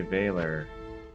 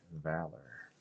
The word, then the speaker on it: Valor: I don't weird it's weird that I say veiler when like I would never pronounce it that way in any other situation